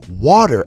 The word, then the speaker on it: water: Is forgetting the flap T, forgetting to pronounce water as water. And then instead of pronouncing water as water with a with a flap D, you pronounce it as water.